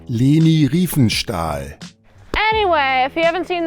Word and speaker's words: Leni Riefenstahl: It is directed by Lenny Riefenstahl. How do I pronounce this guy's name? Leni Riefenstahl.